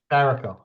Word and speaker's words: Saraco: I just asked you how to pronounce it, and I think I just mispronounced it. Saraco. Saraco.